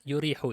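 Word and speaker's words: يُرِيحُ: Kan yarihu itu harusnya ya, yurihu itu. Salah harokat. Fa innahu yurihul aqla wa yuksibuhu nasyatan. Baik. Kok bisa tahu Ustaz kalau itu salah? Nanti antum kalau udah belajar shorof, ngerti itu bacanya harusnya yurih.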